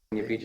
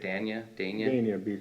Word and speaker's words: Dania Beach: We've done a little bit more research, and back in Dania, how do you pronounce that? D-A-N-I-A, Dania Beach? Dania Beach, Florida, Dania Beach, Dania Beach.